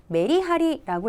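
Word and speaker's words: めりはり: 가닥 하나 하나 보겠습니다 메리 하리라고 읽게 되겠는데요 자이 메리 하리는 우리말에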